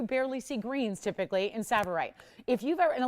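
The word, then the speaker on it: tsavorite: it is spelled severe the t is silent um pronounced saborite spelled to savorite it is pronounced savorite but if you're familiar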